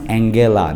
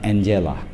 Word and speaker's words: Angela: Prime Minister and uh her name is pronounced Angela not Angela Angela Angela Markle and this is